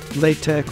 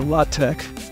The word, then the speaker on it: LaTeX: You might want to try that again and pronounce it either LaTeX or LaTeX.